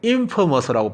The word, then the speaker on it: infamous: infamous라고 발음하는데요.